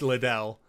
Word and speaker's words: Liddell: Vera Little. It's Liddell, but we're pronouncing it Little.